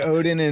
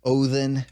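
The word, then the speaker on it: Óðinn: on my show I I try to do Old Norse pronunciations I'm not perfect at it but yeah I do say things like ball hole and uh othen for example but now we're having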